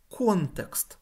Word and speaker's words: контекст: внутрішніх тканин виділяється насамперед контекст з наголосом на о іноді українською кажуть м'якуш